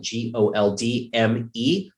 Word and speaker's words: Goldmeier: That is, if you want to know how to spell it, Goldmeier.